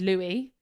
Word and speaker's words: Lewis: Mainly because his name is spelt Lewis, but his name is Louis. You know, like Prince Louis. So I'm thinking I'm going to say Lewis the whole time.